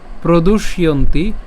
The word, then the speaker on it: প্রদুষ্যন্তি: এখানে যে জফলা আছে, জফলা উচ্চারণ কার মতো হয় আমরা জানি, জফলা উচ্চারণ ইয়র মতো হয়। তাহলে জফলা উচ্চারণ যেহেতু ইয়র মতো হয়, তাহলে এটা কী হবে? ইয়ন্তি, ইয়ন্তি।